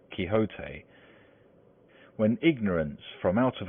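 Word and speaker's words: Don Quixote: Misfortune to know that the gentleman's name is pronounced kote when ignorance from out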